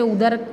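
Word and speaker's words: ઉંદર: तो यहाँ अनुस्वार नहीं लगाने से उदर का मतलब पेट होता है, और अगर ये उदर में एक अनुस्वार लग जाए ऊ के ऊपर तो उसका प्रोनाउंसिएशन कैसे होगा, उंदर।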